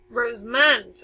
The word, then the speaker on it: Rosamond: it again for you r OSE like the rows of flour and then mo ND rows moans okay one word one